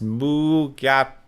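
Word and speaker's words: Mugato: that's the white horned fur like gorilla creature pronounced mu gap due to this is not the bad guy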